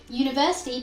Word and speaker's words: university: You might want to say university begins with the U sound, but it actually doesn't. University begins with the Y sound.